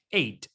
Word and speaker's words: eight: h no se pronuncia eight entonces sin eso entonces que h si la palabra termina en gh la gh mejor de ellos y termina en g ht la gh no se pronuncia pero tenemos el número